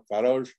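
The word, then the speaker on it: Faraj: Por ejemplo, en el apellido de Salim es F-A-R-A-J, según se pronuncia allá en el Líbano, Farouj, es transcrito como F-A-R-A-G-E, ya que Faroj suena a garage en inglés y en Trinidad se habla inglés.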